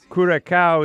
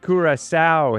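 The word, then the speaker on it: Curaçao: Kuraka is pronounced Kurasa.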